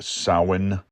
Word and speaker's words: Samhain: In so doing, I learned that Halloween came from a holiday called Samhain. Samhain. It wasn't until about 10 years ago or so that I learned it was pronounced Samhain.